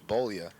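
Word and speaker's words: Beaulieu: b-e-a-u-l-i-e-u I believe okay if it's if it's that it's bolia if that's the spelling on it be the proper pronunciation looks like she's got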